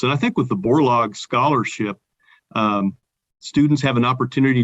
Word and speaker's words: Borlaug: ideas and concepts and i think with the borlaug scholarship students have an opportunity to work with